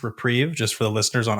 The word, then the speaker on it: Reprieve: on the podcast but reprive one in a white instant return Target spell to its owners and draw a card remand is a white card now uh I believe this card is pronounced reprieve just for the listeners